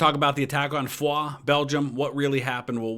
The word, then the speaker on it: Foy: on what they call Foy from the boiseac now first of all right up front gotta say it's not fully it's Foie that's how they pronounce it there in Belgium the guys called it